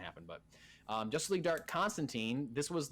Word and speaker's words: Constantine: This will be the first time that John Constantine, or Constantine, if you are Alan Moore, who created the character. So that's probably technically the right way to say it, but I don't know. We're not British.